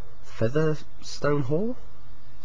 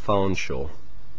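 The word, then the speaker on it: Featherstonehaugh: e h a u g h how's that pronounced feather stone hall wrong it's pronounced farshaw how would you know that unless you come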